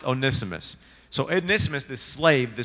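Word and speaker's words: Onesimus: to how to read it right so it's pronounced onimus so onimus this slave the servant the entire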